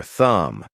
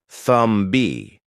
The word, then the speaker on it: thumb: Another common one is the B in words like climb or thumb. The B isn't pronounced at all, but I hear learners say clim B or thumb B.